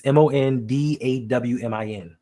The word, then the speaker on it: Mondawmin: It's Mondawmin. Mondawmin. Just like it says. Mondawmin. I don't know where you get the dwa. The wa. With a W.